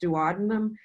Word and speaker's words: duodenum: The first part of the small intestine, shown here in yellow, is called the duodenum, or sometimes pronounced duodenum.